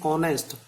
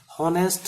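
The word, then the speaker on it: honest: ऑनेस्ट, ऑनेस्ट में भी H silent है, जिसको हम बोलते नहीं है, बोलते हैं ऑनेस्ट, हॉनेस्ट नहीं बोलेंगे, ऑनेस्ट। जब ऑनेस्ट बोला जाएगा, उच्चारण गया ओ, तो इसको हमने एन कर दिया।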